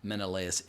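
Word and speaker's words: Menelaus: Ian Mckllen and and according to what I've researched online, Menaaus is the correct pronunciation.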